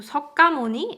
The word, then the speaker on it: 석가모니: So 석가모니 is a Korean pronunciation of Sanskrit word Shakyamuni. So that's how the name became 석가모니.